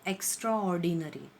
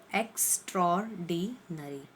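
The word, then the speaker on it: extraordinary: इसका सही pronouncing word जो है वो है एक्स्ट्रॉर्डिनरी, एक्स्ट्रॉर्डिनरी, राइट। वो जो वर्ड यहाँ पर ऑर्डिनरी जो साउंड कर रहा है that is in silent terms, okay, एक्स्ट्रॉर्डिनरी।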